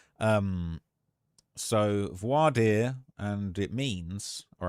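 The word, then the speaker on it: voir dire: uh pronounced vo vo vad vard that's how it's pronounced voad um so voardier and it means all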